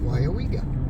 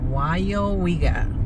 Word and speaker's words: Weyauwega: How do you pronounce this town? Weyauwega. How? Weyauwega. Weyauwega.